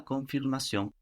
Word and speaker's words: confirmation: So both ends here are half silent. Let's say no, confirmation. So those ends on the N on the end and also the N on the end of that syllable, no? Con is not really pronounced.